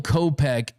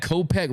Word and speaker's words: Kopech: We got Kopech rhymes with closer, colossal.